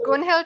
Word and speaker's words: Gunhild: How do you say your name, ma'am? Yeah, it was correct. Gunhild is pretty fine.